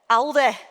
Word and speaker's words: Aldi: this summer in Manchester, Aldi changed the name of the store to reflect the northern pronunciation. All the northerners are going to kill me, but I'm going to try it. Alde, you can shoot me later.